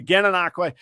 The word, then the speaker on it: Gananoque: Yeah, there's nothing in Florida pronounced that way. Gananoque, that's where he's based.